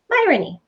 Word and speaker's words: Myrony: Myrony. And people would say, how do you say your last name? And I say, it's like ironic with an M.